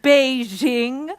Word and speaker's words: Beijing: what with Sebastian spending so much time in bahjong Beijing sorry it's pronounced Beijing oh we're teaching little talk when Mandarin at